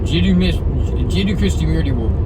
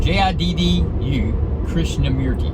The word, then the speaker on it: Jiddu Krishnamurti: If you ever get a chance, Jiddu, Jiddu Krishnamurti, and it sounds just like it's spelled.